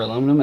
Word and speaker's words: aluminum: That's how I pronounce aluminium, or aluminum, as most people know it.